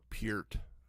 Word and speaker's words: Peart: going to have the neil pert people or peert if you don't say it right the neil peart people